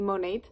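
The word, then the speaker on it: Monat: i am working with monet and i'm so excited i always want to call it monet but you do pronounce the t monet i just started last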